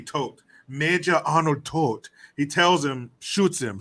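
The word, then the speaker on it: Toht: out and um uh major Arnold tort is that his name tote I I've I hear one character I think it's uh bellock at one point says tote so maybe that's how it's said yeah t-o-h-t tote he tells him shoots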